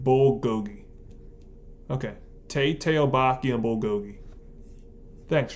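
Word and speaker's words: 불고기: It's pronounced Tae-tail-boki and bulgogi.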